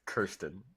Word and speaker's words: Kirsten: For the record, it's Kirsten. Kirsten. It's Kirsten and Kirsten are both acceptable. They're spelled the same, and Kirsten's probably correct, and my parents were wrong.